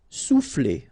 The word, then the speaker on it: souffler: Souffler, okay? O and U will produce OU, sou, souffler.